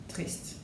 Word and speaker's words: triste: Triste is spelled with an E, whether it's masculine or feminine, and is pronounced as triste, whether it's masculine person or for a feminine person.